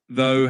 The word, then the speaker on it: though: Though has that silent gh at the end and it sounds like though. Uh through has that same th sound at the beginning but ends with that ooh sound.